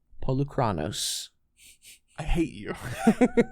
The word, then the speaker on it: Polukranos: My number 7 is Pelucranos Reborn. No, say it right. Polukranos.